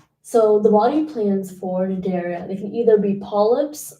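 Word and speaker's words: Cnidaria: either I'm going to not pronounce the C cuz it's either cinderia or nidaria and I'm just going to call it naria easier okay we have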